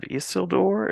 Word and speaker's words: Isildur: I think I'm pronouncing this correctly. Heirs of Isildur, is that As right? Door, yeah, yeah. Isildur, Hmm. yes, yes.